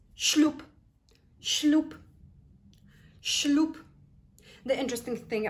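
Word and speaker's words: ślub: the as letter B we pronounce it as letter p because that's what happens in the phonetics of this marvelous Polish language so shloop number 10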